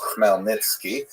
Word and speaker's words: Khmelnytsky: It's actually pronounced Khmelnytsky, with a guttural at the beginning.